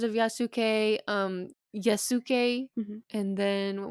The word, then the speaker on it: Yasuke: But when he was in Japan and he lived in Japan, it changed it to more of a Japanese pronunciation name Okay. and a Sure. name, so Yasuke.